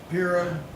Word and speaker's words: Pirro: Piero? Am I close? Pirro? Yeah, Pirro.